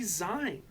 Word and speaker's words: zine: zine like magazine. Why would it be zine? Because I'm an idiot. It's zine, like a magazine.